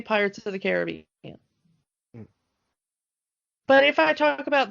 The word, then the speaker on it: Caribbean: released the ride it was they specifically say Caribbean but the area of correct pronuncation is Caribbean and the interesting thing is I don't know